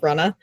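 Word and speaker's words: Runnah: new podcast recently called Runna, which is about running on Cape Cod in Massachusetts, spelled Ru Nh, because that's how you pronounce it in Massachusetts.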